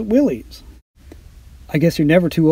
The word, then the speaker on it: Willys: The same is true for the Willys Jeep on board. For years, I had mistakenly pronounced it as Willys.